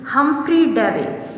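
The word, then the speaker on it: Humphry Davy: अब इसे 2 वर्ड्स में डिवाइड करो, HUM हम, PHREY इसे हम कहेंगे फ्री, हमफ्री डेवी।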